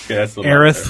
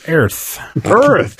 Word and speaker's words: Aerith: And Aerith was Earth.